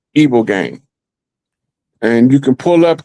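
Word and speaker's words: ibogaine: Well, the only known natural substance that will naturally help you kick the habit is the evil game.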